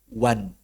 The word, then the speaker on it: one: lafaz yang satu, yaitu wan. O, N, I dibaca wan.